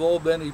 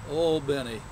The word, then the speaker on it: Albany: all bny Georgia and that's the way the folks of Al Benny pronounce it not like Aly New York Al Benny and I'm going to